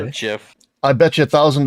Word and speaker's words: GIF: into gif and then i'm like it's jif it's not jif though it is